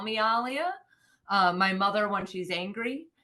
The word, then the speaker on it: Alia: It's actually pronounced Alia. That is Okay. the correct way, but it's just been easier as a child, like growing up, for people to just say Aaliyah.